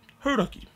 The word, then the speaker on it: Hauraki: of Radio Hauraki, and persuaded them to properly pronounce Hauraki.